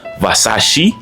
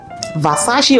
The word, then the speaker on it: Versace: Oh, no, it's Versace, not Versace. Not Va, it's Ve. That's what I said, Versace?